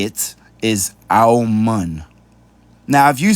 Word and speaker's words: Amun: Now, this is Amun, right? Now, Amun is how you pronounce it in English. But that's because they're changing the spelling of it, right? The correct way to say it is Aumun.